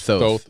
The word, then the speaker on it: Thoth: T-H-O-T-H. Thoth. Some people say Toth or Thoth. I call him Thoth.